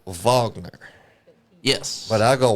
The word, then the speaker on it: Wagner: It's actually pronounced Vagner. Yes. But I go Wagner cuz I'm American.